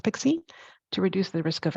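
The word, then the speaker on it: PKCE: add that pixie and it's pkc pronounced pixie to reduce the risk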